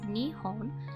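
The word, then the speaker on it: 日本: not so surprisingly is Japan the word is pronounced Nihon with me being the first country in home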